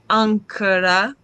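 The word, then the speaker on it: άγκυρα: So gamma kappa is an nk, ankara, right?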